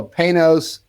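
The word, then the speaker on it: Panoz: Uh, a lot of people don't know how to pronounce it, and it's P A N O Z. And I say it's very simple. Pay through the nose. That's what how you pronounce that.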